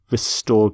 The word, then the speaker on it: restore: Restore peace. Restore democracy. Note the pronunciation of restore, not restore, but restore.